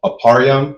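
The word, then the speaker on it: אפרים: For instance, a um aparam, which is how you say Ephraim, the tribe of Ephraim, who are the so-called Puerto Ricans, right?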